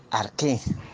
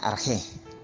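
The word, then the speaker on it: ἀρχή: Bueno, entonces aquí vamos a analizar la palabra griega arqué. También algunos la pronuncian arjé, ¿no?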